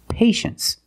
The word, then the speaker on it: patience: Well, you see T-I-E in the second syllable. You know the T is pronounced sh-sh. So this word is patience.